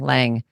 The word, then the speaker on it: Lange: Kim Lang.